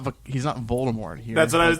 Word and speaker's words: Voldemort: Well, there Rowling, was a reason why Voldemort did it, but... according to J.K. Rowling, Voldemort is pronounced Voldemort.